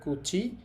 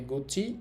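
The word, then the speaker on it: 口: এটার উচ্চারণ হবে কুচি, উচ্চারণ হবে গুচি এবং উচ্চারণ হবে ক।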